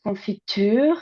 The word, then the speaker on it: confiture: pronunciation of the word confiture and here you can see the longer like the long uh vowel and the longer duration of the final syllable which is uh nuclear stress here right in the example